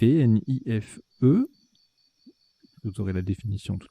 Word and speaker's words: nife: On a joué Nife, N-I-F-E. Vous aurez la définition tout à l'heure, ça se prononce bien comme ça, Nife.